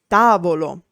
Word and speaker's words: tavolo: A word is sdrucciola or proparossitona when the accent is on the third last syllable. For example, tavolo, table.